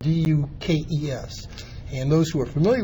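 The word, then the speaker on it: Dux: worthless, is it's spelled D-U-K-E-S. And those who are familiar with me, even though my name is Dukes and pronounced Dukes, it is spelled D-U-X, right, which means the inscription would have been wrong.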